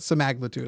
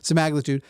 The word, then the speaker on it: semaglutide: supposed to have it sagud I think is actually how it's pronounced some magude uh there's all this like